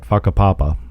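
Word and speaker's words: Whakapapa: leave the car at faka Papa yeah faka papa the wh is pronounced as F Village and we start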